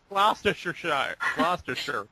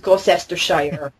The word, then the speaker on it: Gloucestershire: I mean, if no one had ever, like, you know, heard the English pronunciation, they'd make the same mistake I did and think it was Gloucestershire. As I said, the English. Because you know why? Because when we have C's in words, we tend to think you pronounce them.